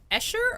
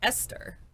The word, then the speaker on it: Esther: Are you saying Escher or Esther? It should be Esther. I always say Escher because of the way it's spelled. And in my head, as a little kid, I read it as Escher, even though adults were saying Esther.